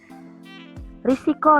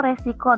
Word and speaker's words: risiko: Risiko, resiko, nah ini yang sering diucapkan oleh orang-orang ya. Padahal yang benar adalah risiko. Kata bakunya bukan resiko.